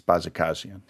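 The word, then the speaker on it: Bajakajian: And I think that was a very good pronunciation of that case, Bajikasian.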